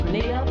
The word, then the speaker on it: Grenada: So today, like we Germans say, we are in Grenada. But I heard in English it's called Grenada. Say it right. Grenada. Say it right. Grenada. That's right. Grenada. There we go. Say it right. It's Grenada.